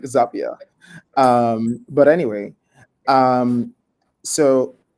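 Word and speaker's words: Zapier: and they were like oh just it's like happier but like Zapia.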